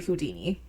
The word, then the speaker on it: Houdin: from the name Eric Weiss to then Harry Houdini.